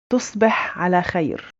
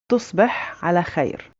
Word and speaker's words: تصبح على خير: For Fusha, it's very similar with a bit of different in pronunciation. So we'd say تصبح على خير. تصبح على خير for a male.